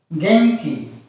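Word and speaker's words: 元気: Similarly, gen plus ki followed by K sound, is pronounced as genki, nasalen.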